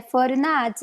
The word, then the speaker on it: Fornazier: E o que fala de verdade é Forinade.